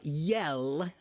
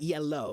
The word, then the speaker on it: yell: Uh, yell. Yell. Not yellow. Yellow, right? but yell.